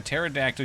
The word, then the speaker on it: pterodactyl: Why can't you hear a pterodactyl use the bathroom? Because the P is silent.